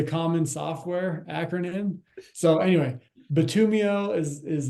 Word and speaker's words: Bitumio: the first time um we thought we were clever coming up with Batum right because batumin is the black ingredient that goes into asphalt right and then IO